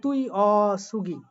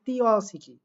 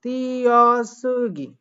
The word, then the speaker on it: 띄어쓰기: পরেরটা খেয়াল করেন, হওয়ার কথা কি তুই অসুগি, তুই অসুগি, কিন্তু এখানে হবে তি অসিকি, 띄어쓰기. তিয়াসুগি।